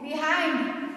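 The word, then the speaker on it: behind: यानी कि आई के बाद जहां भी एनडी एलडी आए तो आई का उच्चारण हम लोग आई पढ़ते हैं।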